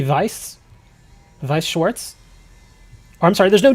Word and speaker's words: Schwarz: Walker, there's no T. Yeah, there is no T in this. It's spelled S C H W A R Z Vice Wars. Use the Schwarz. But yeah, Wooker, there's no T in this. Or does it just have the T sound?